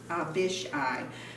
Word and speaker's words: Abishai: It's pronounced Abishai, to confront the Ammonites.